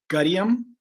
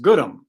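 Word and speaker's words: Gudim: It's spelled G-U-D-I-M. So some people call it, say, Gudium, but I was taught that it's pronounced Good'em. So they look at it as G-O-O-D-U-M.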